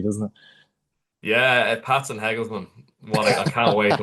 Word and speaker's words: Hegelmann: Pat playing playing host to Heglesman is how you say it, Ross from the first leg out there, I think.